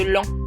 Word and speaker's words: Laon: va à celui au lac des les à Chamouille dans le 02 près de Lan qui s'écrit Laon mais faut pas chercher ça se dit l ça y est on